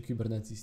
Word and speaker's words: Kubernetes: Te K8S czyta się Kubernetes, nie kwestionujcie tego.